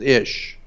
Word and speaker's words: ish: And in Hebrew, the word man is ish, I-S-H. In Hebrew is man. It can be also more than one. It can be men. The correct way to pronounce it in Hebrew is ishi.